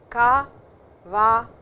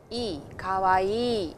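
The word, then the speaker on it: かわいい: Again, there is a double sound over here, kawaii, kawaii. So, it is a long sound, it is two syllables over there.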